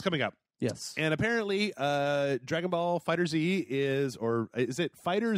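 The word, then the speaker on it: Dragon Ball FighterZ: publishers come out and set its fighters okay Dragon Ball fighters so so but yeah it's it's that that is the official pronunciation of it according to Bandai okay Dragon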